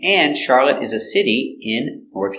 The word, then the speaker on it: Charlotte: is who was she the girl's name Charlotte pronounced char lit lit Charlotte is a girl's name and Charlotte is a city in